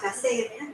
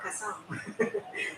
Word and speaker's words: Kasem: My name, by the way, is Kasem, not Kasam.